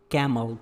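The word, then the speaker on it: calm: कैमल। कैमल का मतलब होता है ऊंट। काम। काम का मतलब होता है शांत, और इसमें एल वर्ड साइलेंट होता है।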